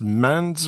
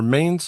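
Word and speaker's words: Mainz: metal band out of I believe it's pronounced mans or Mains Germany uh fun fact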